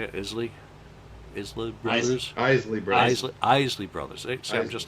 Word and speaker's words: Isley: Isley Brothers.